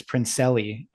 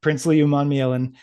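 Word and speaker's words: Umanmielen: Uh really I thought I was always confident about his last name, but at the senior bowl they uh were pronouncing it as Princeelli all week and that really threw me off. Um but it's Prince Leman.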